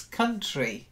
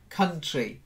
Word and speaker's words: country: down into syllables because it's country not like count country try it that's it good